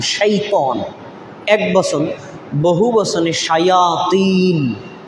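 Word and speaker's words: شيطان: শয়তান কিন্তু অরিজিনাল শব্দটার উচ্চারণ হলো শাইতন, শিন ইয়া ত আলিফ নুন, শাইতন।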